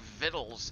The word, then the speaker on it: victuals: like vittles right like vittles is spelled as if you were saying victuals but you pronounce it fiddles and britches might be